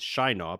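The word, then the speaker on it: Shienar: like well do it because apparently here in Shina and I've also learned that the pronunciation is Shina but these people are not shy at all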